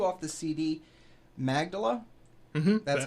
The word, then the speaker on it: Magdala: It's number 2 off the CD, Magdala. That's how you say it, correct? All right. It's number 2. It's Magdala off of the new CD, Two Steps from the Road.